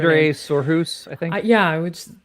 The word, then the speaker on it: Sindre Sorhus: And so yeah, I mean, Sonorous. I just said Sonorous. I always mispronounce their name. Sindre Sorhus, I think.